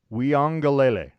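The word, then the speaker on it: Uiagalelei: Weongalele is how you pronounce it, by the way.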